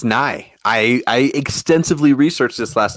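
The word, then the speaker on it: Nighy: have Victor himself who's I can never pronounce his last name it's it's nigh I extensively researched this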